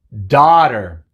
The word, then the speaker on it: daughter: h en estos casos la g es muda casi siempre vamos a ver algunos ejemplos cuando no es muda pero casi siempre es muda así que a uno h simplemente dice a por ejemplo touch es el pasado del verbo teach cat cat también el pasado del verbo que tenemos daughter dar nori nadie estas palabras todas dicen ah pero hay una excepción